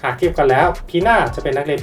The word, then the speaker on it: Pina: ดี ข้อ ที่ 5 จาก ชื่อ ของ เธอ ที่ อ่าน ว่า พี่า ไม่ ใช่ หน้า ซึ่ง การ อ่าน ตัว